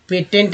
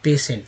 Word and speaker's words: patient: ये स्पेलिंग जो आप देख रहे हैं पेटेंट नहीं है, पेंट नहीं है, पेटीएन नहीं है, है ना। बहुत तरह से लोग पढ़ सकते हैं, जो जानते हैं उनको तो कोई बात ही नहीं, वो समझ रहे हैं क्या लिखा हुआ है। ये स्पेलिंग लिखा हुआ है पेशेंट, ठीक है।